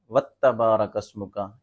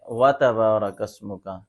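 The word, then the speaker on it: وتبارك اسمك: ہے وَتَبَارَكَ اسْمُكَ، تو نمازی حضرات کیا پڑھتے ہیں اوپر والا دیکھیں وَتَبَارَكَ اسْمُكَ، یہ درست نہیں ہے۔ جو تلفظ درست یہ ہے وَتَبَارَكَ اسْمُكَ۔ آگے جو غلطی کرتے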